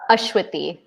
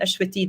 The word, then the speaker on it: Ashwiti: again my name yeah ashwithy oh shwiti so i was i was putting the pronunciation somewhere else so i'm glad ashwiti that i asked you yay okay um